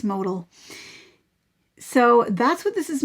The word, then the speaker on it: modal: a nice drape so i was calling it modell but i've since heard that it's modal even though there's others like me who pronounce it modell but i think it's modal so that's what this is made of and